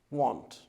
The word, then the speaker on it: won't: not but when it comes to pronunciation they pronounced like this want okay for example hey tomorrow we're going to